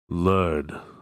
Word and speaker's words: Lud: the marker great road lud 160 wheels wheels an old form of measurement have you heard of lead perhaps when i was very small it rhymes with crud maybe not such a